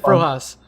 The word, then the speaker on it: Frojas: That's how you pronounce it, Frojas.